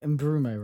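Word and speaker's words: Mbeumo: Is that how you pronounce the name? Mbrumo, right?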